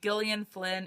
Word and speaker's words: Gillian: i'm going to recommend is gone girl by gillian flynn and yes that's how you pronounce it because i googled it oh my